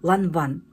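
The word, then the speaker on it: Lavin: Я читала в интернете правильно читается Лаван Ну как написано как Лавин а читается как Лаван девочки на сайте Рандеву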